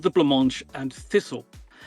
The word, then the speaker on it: Blancmange: So I did pronounce Blancmange correctly, thank you. Yes. That's good to hear. I wasn't sure. It's as the pudding.